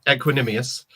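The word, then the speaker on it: Equanimeous: Got on I can't even pronounce his first name. The St. Brown. Is it Equanimous St. Brown? Equanimous.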